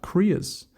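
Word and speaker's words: cria: love this uh this part but they're called koreas Korea so that's spelled c r i a as to why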